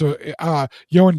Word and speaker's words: Ioan: I can't remember the other dude's name, even though it's Ioan Griffith.